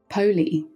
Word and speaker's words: POLE: at the four groups POI although written as pole this is pronounced po which is short